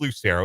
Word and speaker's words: Lucero: Like, I get Lucero sometimes. I get like a hard C. People try to make it like really Italian. So I get that sometimes, but it is Lucero. It's pretty straightforward. It's like it's spelled.